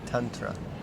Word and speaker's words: tantra: tantrum black heart yeah tantra tantrum it's a short a ah when i first read